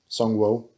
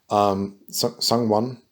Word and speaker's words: Sungwon: does voice acting, which I mean it's ProZD, Sungwo. Sungwon. Fuck. He even did a whole skit about how to pronounce his name.